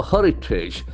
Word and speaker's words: heritage: Power, heritage. Can see what a beautiful word, heritage. Heritage. We never get that word often. Okay, heritage. Can heritage. heritage, Heritage. Accent falls from the first syllable.